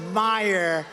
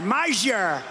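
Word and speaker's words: Meijer: of the 10 impeachers, a guy who spells his name M-E-I-J-E-R, but they pronounce it Meyer. The hell kind of a spelling is that? Meyer. Meisher.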